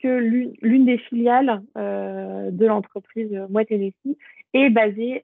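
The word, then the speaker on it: Moët Hennessy: Et on a une autre entreprise, donc là, alors, ça je le prononce bien, Moet Hennessy, donc c'est une entreprise de vin et de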